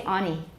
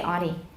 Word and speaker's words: auntie: Some make taps in familiar words such as auntie. Some say auntie. Some can say auntie. Or auntie.